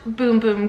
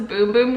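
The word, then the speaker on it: Bum Bum: the like cardboard box it says pronounced boom boom like b o o m b o o m it's because it's uh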